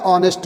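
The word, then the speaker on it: honest: ई एस टी ऑनेस्ट यहां पे H silent है जब एच साइलेंट है तो ओ से ठीक है ओ साउंड है ऑनेस्ट ऑनेस्ट आ रहा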